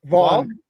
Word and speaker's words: Vaughn: I I don't know how to pronounce your first name. How How would Von Von Vaughn the gh is silent?